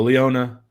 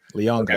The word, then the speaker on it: Leonga: No Leona. Leonga Lafau. There we go. Official on the pronunciation guide. Leonga.